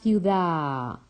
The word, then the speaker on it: ciudad: And pay attention that when a word finishes with the, we don't really pronounce the de, it's a long a. Por ejemplo, la ciudad.